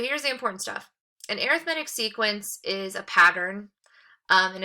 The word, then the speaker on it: arithmetic: two different ways to pronounce that word um arithmetic is probably the pronunciation pronunciation you've used before that just means